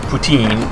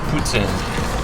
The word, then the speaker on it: poutine: is traditional Canadian québécois it's in it's not pronounced poutine it's boots in it is gravy on top of fries and